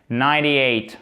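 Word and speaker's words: ninety-eight: 98. On ne prononce pas le E et on prononce le T comme quasiment un de, presque comme un de.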